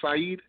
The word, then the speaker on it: Siheed: Was it Siheed? Yes. Yeah. Hey, Siheed.